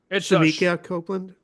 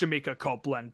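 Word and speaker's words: Shemekia Copeland: Eve by a Copeland sha Copeland okay it's it's pronounced shmika Copeland technically and let me tell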